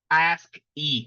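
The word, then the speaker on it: ASCII: all our LS right so pronounce ask e right as c i i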